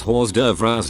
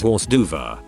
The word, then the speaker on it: hors d'oeuvres: a neighborhood flyer about a pool party and pronounced hors d'oeuvres horse duva my friend i know it all then 16